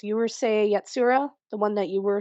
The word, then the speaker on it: Urusei Yatsura: I have a hard time pronouncing it. It's Urusei Yatsura, the one that you were suggesting earlier.